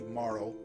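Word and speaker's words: Marle: i haven't looked up i looked up marl's japanese name to get her pronunciation right and so she is maru in japanese which is probably moral in english luca i haven't looked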